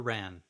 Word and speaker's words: Rahn: Now tell me, is it Sarah Rahn or Ran? Ron. Rahn. Okay, that's what I thought. It sounds like it's spelled. Okay, perfect.